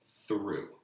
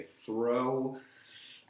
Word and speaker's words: through: clear ending plant so through and make sure you're pronouncing that word is through I sometimes give students reading articles and they say throw through we go through the